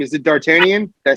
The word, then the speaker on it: Dartanyan: did i say his name right is it dartanian is that right yeah yeah you hear me